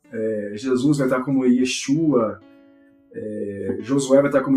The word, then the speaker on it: Yeshua: E ele traz termos como, por exemplo, João, ele vai dizer Yoshanan, Jesus vai estar como Yeshua, Josué vai estar como Yehoshua.